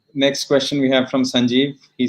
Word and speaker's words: Sanjeev: Sanjeev, is that how you say it?